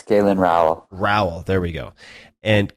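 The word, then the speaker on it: Galen Rowell: Is that how you pronounce his name? Yeah, it's Galen Row.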